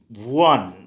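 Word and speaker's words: one: इसका प्रोनाउंसिएशन होता है वन, वी से होता है।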